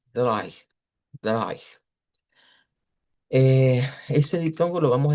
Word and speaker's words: drei: se escucha como AI, pero en el idioma alemán esta AI viene de un diptongo EI escrito, o sea, se escribe así, el 3, pero se pronuncia con I, ¿ya? Deich, Deich.